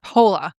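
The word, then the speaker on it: Poehler: Amy Pola Pola's uh polar like a polar bear.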